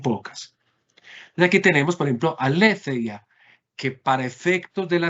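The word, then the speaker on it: ἀλήθεια: de filosofía, la palabra aletheia. Aletheia, ¿la ven ahí? ¿No? Aletheias G. Observen que el acento que yo tengo acá está sobre qué sílaba, última, penúltima o antepenúltima. Antepenúltima. Antepenúltima. O antepenúltima. Y recuerden que el acento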